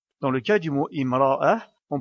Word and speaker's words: امرأة: commence par le mot imra'a et donc on prononce bien la voyelle kasra car on ne peut pas commencer à lire ce mot par la lettre mim qui n'est pas associée à une voyelle.